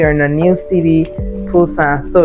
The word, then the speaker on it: Busan: Now we are in a new city, Busan. So it's pronounced Busan with a P, even though it's spelled with a B.